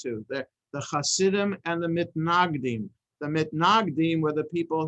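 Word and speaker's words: מתנגדים: So there were the Hasidim and there were the Misnagdim, if you pronounce it in the Ashkenazi way. The Hasidim and those who are opposed to, mitnaged is to be opposed to, mitnagdim are those who are opposed to.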